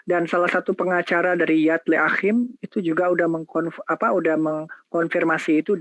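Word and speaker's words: Yad L'Achim: Jadi dia mengaku kepada organisasi Yad Leachim ya bacanya gitu ya, Yad Leachim, dan juga kepada salah satu dari rabi-rabinya.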